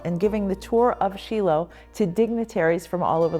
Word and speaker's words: Shiloh: to come to Shilo I'm using the Hebrew pronunciation versus Shiloh so every time I